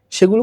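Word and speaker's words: ثَ: আমি যখন এখানে ছ লিখেছি, ছয়ের উচ্চারণ আর সায়ের উচ্চারণ এক না। আমি বোঝানোর জন্য ছ লিখেছি, কিন্তু আপনি যদি সঠিকভাবে এই সা উচ্চারণ করতে যান, তাহলে অবশ্যই আপনাকে আপনার জিহ্বার যে অগ্রভাগ রয়েছে, সেই অগ্রভাগটিকে আপনার উপরের যে দাঁতের অগ্রভাগ রয়েছে তার সাথে স্পর্শ করে আপনাকে উচ্চারণ করতে হবে সা, সা সু সি।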